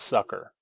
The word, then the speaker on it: succor: succor like s-u-c-c-o-r yes i think it's pronounced sucker i know it sounds silly but oh i always pronounce it secor in my head but